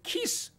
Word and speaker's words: 기스: 하늘의 청빙위원회 움직이면 첫째, 베냐민 지파 가운데서 기스, 조금 세게 하면 키스. 내가 지금 방금 뭐라고 했죠? 베냐민 지파 가운데서 사람 이름이 뭐라고 했죠? 강하게 발음 시작.